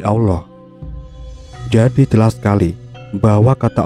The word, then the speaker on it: Allah: Dan dalam pengucapannya, bunyi ilulu tak terdengar dan menjadi Allah.